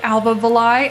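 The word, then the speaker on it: Alva Valai: so her name is Alba villai I will say uh I heard Chris Wilson say Alba villai and that kind of rhymes with the last to Die the LIE La Dai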